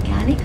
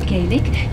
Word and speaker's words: Gaelic: The top language will be the Gaelic or the Gaelic. You can say that word either way. We accept both pronunciations.